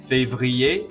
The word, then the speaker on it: février: Janvier, février, and juillet. All of those are pronounced like ier at the end and have a silent R and a silent T.